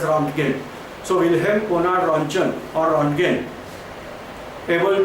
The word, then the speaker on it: Röntgen: Wilhelm Conrad Röntgen, so simply according to spelling I must pronounce as Röntgen.